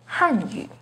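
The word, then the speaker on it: Hànyǔ: The pinyin and tone for Hanyu is with the fourth falling tone on Han, Hanyu. The pinyin and tone for Hanyu has a second rising tone on Han, Hanyu.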